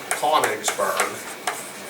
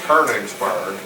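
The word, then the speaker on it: Königsberg: what that's called but in America it looks like konigsberg but they're saying you pronounce this kerningsburg then I'll take their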